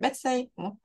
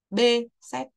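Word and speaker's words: Behçet: bị bắt xê các thầy cô hay gọi Pepsi Nhưng mà không phải đó không phải là cái phát âm đúng hoặc là cái phát âm bằng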